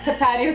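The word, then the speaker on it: Tapatío: Tapatio is how you say this one, okay?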